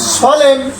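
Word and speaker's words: solemn: এল ই এন এন এল ই এন এন সলেম সলেম সলেম সলেম সলেম সলেম আমরা সলেম বলছি এর উচ্চারণ নেই এখানে এইচ ওয়াই এইচ ওয়াই সবাই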